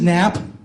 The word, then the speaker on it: Knapp: And also, as you can see, my name is Knapp. My name is Knapp. The K is silent.